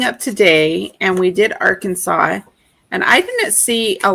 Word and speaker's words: Arkansas: So you have to say Arkansas and not Ar Kansas, I guess. Oh, it's Arkansas. Arkansas. What's the fine? What's the fee? What's the penalty? Um, it is. Let's see. There is no Kansas in Arkansas, y'all.